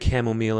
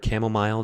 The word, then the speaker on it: chamomile: Number two, we have the chamomile in there or chamomile depending on how you pronounce it.